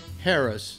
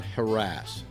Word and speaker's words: Harris: everybody should learn is it's pronounced Harris not her ass Thank You mr.